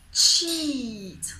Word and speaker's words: cheat: Okay, so basically, cheat.